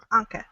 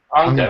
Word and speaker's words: Anca: How do you pronounce her name? Anca. Anca.